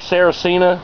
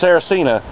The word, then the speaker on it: Saracina: roads around here like sarah cena didn't have a clue how to pronounce that but it's saracina and she was like